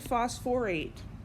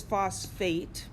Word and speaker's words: phosphate: you know Mike well why isn't it Foss for eight well sulfur and phosphorus this vowel or this syllable here kind of comes and goes seemingly seemingly randomly and that's another thing that I won't take points off for but I will correct you so this is phosphate that's this silk this or syllable just kind of disappears so phosphate what's the